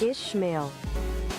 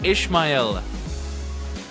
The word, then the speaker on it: Ishmael: Ishmail. Ishmail. No, it's Ishmael. Here it is. This is how it should be pronounced.